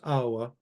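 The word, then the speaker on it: ܐܒܐ: In Syriac, it's abba, or again, not a very well justified rule, but there's some rule somewhere that says you're supposed to pronounce this awa. Not something I agree with, but again, do whatever your bishop tells you to do. Awa, but abba is maybe a more sort of technically correct way to say it.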